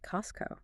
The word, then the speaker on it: Costco: Do you hear a t sound? No. It sounds like Costco. Right. The D is removed because it's scooshed between the N's and the C sound, which is K. It's just easier to take Costco.